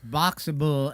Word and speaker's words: Boxabl: It's Boxable, and it's spelled BOXABL. So Boxable.